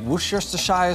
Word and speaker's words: Worcestershire: It takes 1/2 cup of beef fat, 1 cup of coffee, 1 tablespoon of Worcester sauce, and you can pronounce it Worcestershire sauce, Worcester sauce, Mr.